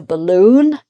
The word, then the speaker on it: balloon: So we've got here balloon. So because the first syllable is not stressed, loon. So loon is stressed, balloon.